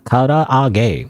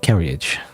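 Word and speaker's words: からあげ: You let him know it's pronounced karaage. Karaage. Not carriage.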